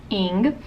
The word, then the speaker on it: Ng: to be talking about celeste ing spelled ng pronounced ing um she's one of